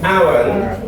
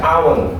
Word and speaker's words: aunt: And ini bacanya agak rumit nih. Ada yang baca and, ada yang baca aunt. Aunt ya. Cuma lebih kuat sih and. Ya, cuman agak dinaikin dikit karena kalau and doang mirip kayak semut.